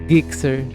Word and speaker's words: Gixxer: sa kanya is Gixxer G as in na Ginger hindi g as in galunggong kasi iba naririnig ko ano eh Gixxer kasi ung pangalan na